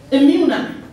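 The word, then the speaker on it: emuna: now from a man comes another word it's pronounced imuna e m u n a and we hear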